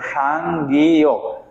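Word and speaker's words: 쌍기역: তাহলে একে কি বলবো, সাংগিয়ক। তাহলে দেখেন এটাকে কি বলবো, সাংগিয়ক। সাংগিয়কের উচ্চারণ হবে কার মতো, ক।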